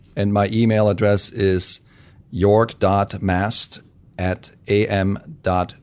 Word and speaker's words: Jorg: five six one and my email address is York dot mast at am dot JLL comm and my first name is spelled jo r g so York is probably